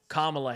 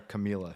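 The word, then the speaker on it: Kamala: 61% Harris and 2020 kamla Harris by the way you'd think by the end of the election you know how to say her name but there we go in Georgia they call her Camila Harris cam yeah we had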